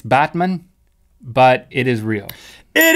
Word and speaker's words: Batman: be middle far they added a TOA next Batman Turkey Batman Turkey turkey's a country Batman's a place um you're not pronouncing it correctly it's Batman but it is real it isra you're on